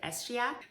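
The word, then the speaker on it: escheat: last c stands for s cheat some people pronounce it estia which is perfectly fine it's not a verbal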